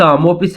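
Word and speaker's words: Maupassant: ये यह गेडे मोपिस मोपिस इस वर्ड को पढ़ते हैं ठीक है प्रोनाउंस करते हैं तो उसने लिखी हुई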